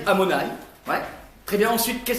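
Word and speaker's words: Adonaï: d'autres noms de Dieu adonï amonï on ne prononce pas comme ça on dit amonaï ouais très bien ensuite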